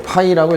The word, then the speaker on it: 파이: 거기 기호가 있죠 자 우리 자속의 기호는 이렇게 쓰고 읽을 때는 그죠 파이라고 읽으시면 되고 그 다음에 이제 단위가